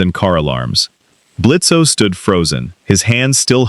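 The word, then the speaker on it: Blitzø: I'm Blitzo. The O is silent, much like your terrifyingly effective method of communication.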